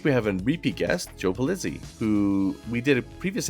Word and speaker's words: Joe Pulizzi: Joe Pulizzi, welcome to the show. Hey, I'm happy to be back. Did I pronounce the name exactly right this time?